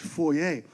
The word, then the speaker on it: foyer: Did you know that foyer is actually a French word? It's supposed to be pronounced foyer.